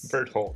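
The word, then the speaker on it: Bertholdt: how do you say his name again it's bird holtz bird holes bert holtz yeah burt holt spurred that i think i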